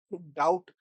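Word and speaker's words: doubt: डाउट यार डाउट में b को क्यों साइलेंट कर देते हैं? है ना? क्यों साइलेंट होता है?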